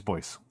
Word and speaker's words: Bois: So I'm like, do I call you John Bois? John Bois? Oh, I thought you going to say it boy. Uh, no. I'm pretty sure it's Boyce.